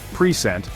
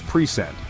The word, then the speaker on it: present: English is super dependent on word stress, like present, a gift, versus present, to give something.